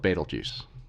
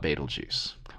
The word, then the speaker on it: Betelgeuse: pronunciations I'm gonna go with baitul juice okay if you have a preference I hope this doesn't grate on you too much if this isn't your preference but this is the sort of the the way that I learned to say it a lot of folks know it and you know this is probably not the best way to say it but you know a lot of folks know the stars Betelgeuse and not to be